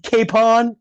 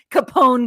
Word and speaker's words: Capone: you know what's funny I actually made the a capital so I would say cap kpon you almost said it wrong again all right anyway dude I can't let it go I'll let a lot of mispronunciations go like you putting a D in the word genre but I let Capone go for Capen I just can't